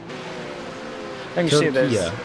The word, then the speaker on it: Turkia: Turkia is the pronunciation, I just checked. Turkia, wow.